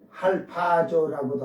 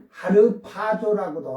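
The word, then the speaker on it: ἁρπάζω: 올라간다 그니까 응 그걸 헬라로 그리스도로는 할파조라고도 하고 이게 할 하지만 하르 할 이렇게 발음을 하니까 뭐 뭐 발음 잘한다고지가 잘났다고 뭐 어지 말고 하르파조라고도 하고 할파조라고도 해요.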